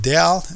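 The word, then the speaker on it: ∇: has several of names one of them is del f okay this is pronounced del del f another name for this thing is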